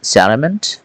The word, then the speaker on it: settlement: And the next one, salament, yeah, salament, satal, yeah, settlement, we pronounce it salament, yeah, a place where people come to live or the process of settling in such a place.